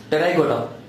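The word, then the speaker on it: Pterygota: And subclass is Pterygoda. Here P is silent.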